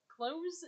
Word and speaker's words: cloze: Close with a Z. Close, CLOZE. How do you pronounce that, folks?